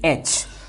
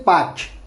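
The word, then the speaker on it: पाँच: Now here while pronouncing, just keep an eye on this N, because this is a nasal. This is a nasal pronunciation. You should not say patch. Patch is a very poor quality of Hindi, saying patch. You should always say panch. Pang. So it should come from your nose.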